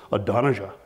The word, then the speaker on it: Adonijah: bad at them so if i confidently pronounce one of these hebrew names like adonijah that's because i've typed it in my phone and i hit the little button and it plays and it goes adonaija and then i say adonisha